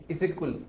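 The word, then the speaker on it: Issyk-Kul: सो exactly उसको क्या pronounce करते हैं उसको प्रोनाउंस करते हैं इजिकुल इजुकल इजिकुल इजिकुल इज अ एक बहुत बड़ी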